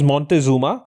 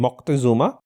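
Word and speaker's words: Moctezuma: Uh the king that we're talking about is Montezuma or the correct pronunciation will be Mocktuma.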